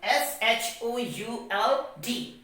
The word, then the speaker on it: should: per the rule that if the letter l comes before the letter d then l becomes silent so w o u